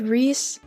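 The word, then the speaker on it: Rhys: It said Reese. R-H-Y-S is Reese.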